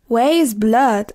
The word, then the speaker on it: Weyes Blood: Waste. Waste blood. Así se pronuncia.